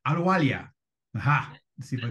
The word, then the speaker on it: Ahluwalia: I've never pronounced your last name. Ahluwalia.